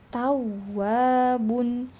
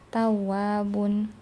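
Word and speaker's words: تَوَّابٌ: Jadi jangan sampai tawwabun. Tawwwabun. Ya. Mana terdengar enggak kalau huruf wunnya itu bertasdid? Kalau kita bacanya tawwabun, tawwabun ya beda dengan tawwabun.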